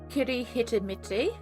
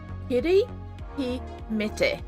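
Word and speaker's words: Kirihimete: Kiri He Mete is how you say Christmas.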